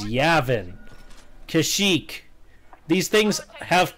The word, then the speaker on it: Yavin: called a prophet dum-dum-dum-dum Aven for you can't argue my pronunciation yes I can yes I can't they are not correct though so many times in star wars they have pronounced it as Yavin Kashyyyk these things have